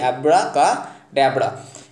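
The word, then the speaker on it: abracadabra: অ্যাব্রা কা ড্যাবরা। এবার দেখো KA আছে, তার মানে এটাও হবে না। এবার এখানে দেখো অ্যাব্রা কা, এটা ডেবরা আছে, বন্ধুরা উচ্চারণ কিন্তু ডেবরা না ড্যাবরা, তাহলে অ্যাব্রা কা ড্যাবরা।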